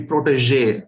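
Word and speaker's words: protégé: improper stress the word the stress should be on the j the last syllable so it should be protege okay not protest so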